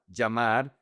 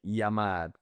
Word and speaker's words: llamar: One is like the J in English, "ja, ja, llamar". And the other one is very soft, like "yamar".